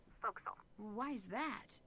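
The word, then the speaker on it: forecastle: ship but it's pronounced fokal why is that try pronouncing it like an English sailor with no formal education SP Castle fille over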